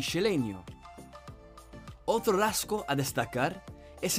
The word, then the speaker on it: Xeleño: de la S final, la pronunciación de la X como SH. Por ejemplo, la ciudad guatemalteca y su gentilicio, Cela y Celeño, se pronunciaría como Xela y Xeleño.